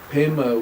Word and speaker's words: Pema: Pema, which is the Tibetan pronunciation of the word, Sanskrit word for lotus, is your energy field.